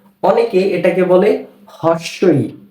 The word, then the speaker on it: হ্রস্ব ই: এরপর এই বর্ণটি হচ্ছে হ্রস্ব ই। এটা কি? হ্রস্ব ই। অনেকে এটাকে বলে হর্স্ব ই। না, হর্স্ব ই বলা যাবে না। এই বর্ণটির সঠিক উচ্চারণ হচ্ছে হ্রস্ব ই।